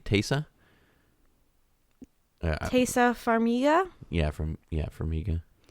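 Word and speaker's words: Taissa: think taser yeah yeah how you pronounce it yeah it's t-a-i-s-s-a tesa yeah from yeah for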